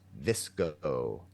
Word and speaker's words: VSCO: Named after the photo editing app VCO, pronounced Visco, a kind of trendy meets effortless meets beachy vibe.